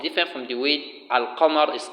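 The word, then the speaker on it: القمر: There are two ways. There are the one you pronounce as if you are pronouncing al-qamar, as if you are saying the moon, and there is the one you are to pronounce as if you are saying ash-shams, the sun.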